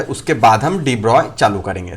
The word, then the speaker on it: de Broglie: रहे हैं यहाँ पे, ये जनरली हम ऐसा ही नाम यूज करते हैं डी ब्रॉगली, ताकि स्पेलिंग प्रॉपर रहे, बट इसका एक्चुअल प्रोनाउंसिएशन हमें पता होना चाहिए। क्या होता है एक्चुअल प्रोनाउंसिएशन बच्चों? डी ब्रॉय।